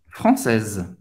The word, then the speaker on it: français: Então, seria français, ok? Não vai pronunciar esse S no final, não vai pronunciar Z no final.